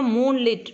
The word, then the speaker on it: moonlit: See here, moonlit. Moonlit means lit by moon. Okay, அதான் moonlit, moonlight. So நம்ம இதை pronunciation பண்ணும்போது moonlit-ன்னு தான் சொல்லணும்.